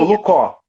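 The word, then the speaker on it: Olùkọ́: expressão Oluco, é assim que pronuncia? Olucó. Olucó. Olucó é uma palavra do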